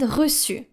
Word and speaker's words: reçu: No matter the vowel following the letter C with a cédille, you will need to pronounce it just like the letter S.